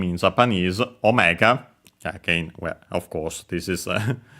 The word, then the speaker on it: omega: uh English, but yeah, in Japanese, it's simply omega uh without any uh long vowels. and the accent is on the first uh syllable on the first moa on the O.